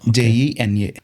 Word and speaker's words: Jena: University of Applied Sciences Jena Jena JENA okay spelling so they pronounce it Jena .